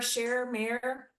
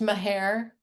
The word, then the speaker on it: Maher: So this was, so she had talked, Mayor Scherer. It's pronounced Maher. Maher, thank you.